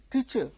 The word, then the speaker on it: teacher: this way teacher teacher teacher teacher it's not teacher at least the teachers should correct them teacher that is the stress is on the first syllable not on the second syllable in the case of